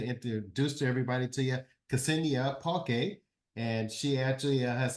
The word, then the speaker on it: Ksenia: Ksenia.